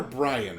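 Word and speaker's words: Brion: I always wonder, is it Byron or Brian? Brian.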